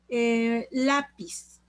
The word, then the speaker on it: Lápiz: Lápiz. La es la sílaba tónica, lleva tilde porque termina en Z.